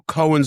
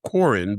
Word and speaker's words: Cohran: Under Phil Cohin's direction, I've heard some people pronounce his name Cohin, but we're we'll go with Cohin.